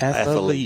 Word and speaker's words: athlete: athlete of the week that's athlete that's two syllables yes I want to tell the television stations it's two syllables not athlete not athlete athlete it's athlete that's like a nuclear